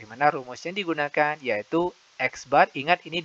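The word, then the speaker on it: x̄: data kelompok di mana rumus yang digunakan yaitu X bar ingat ini dibacanya X bar X bar = Sigma Fi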